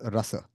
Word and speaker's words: rasa: So That is this called rasa. this rasa, just by the way, in Hindi we'll call it ras, but in Sanskrit it will be pronounced as rasa.